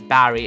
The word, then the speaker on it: Barry: His name is Barry. It rhymes with berry.